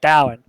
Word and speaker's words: Dallin: shopkeeper of Findest Keepers, a dwarf named Darlene, or Dallin. That's how you pronounce his name, is Dallin.